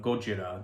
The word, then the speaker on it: Gojira: well known fact that godzilla is just a poor american mispronunciation of gojira the character's original name but what a lot